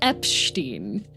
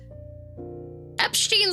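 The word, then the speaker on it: Eppstein: Um, Berg Epstein. Um, it's it's spelled like Epstein but with two P's.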